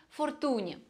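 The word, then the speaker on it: Fortuny: и еще не забывайте что правильно произносить именно Фортуне потому что это испанская фамилия художник был похоронен на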